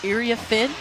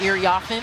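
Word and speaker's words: Iriafen: for the fans now IA fin not I offen I know that's how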